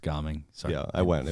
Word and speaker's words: Gaming: but it's spelled the same way and it's pronounced ging sorry yeah I went it was very disappointing